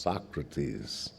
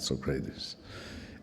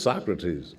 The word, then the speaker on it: Socrates: you should know that the man's name is pronounced Socrates, not Socrates. And he opened his eyes, and innocent as he could be, he said, really? I said, really, yeah, it's Socrates.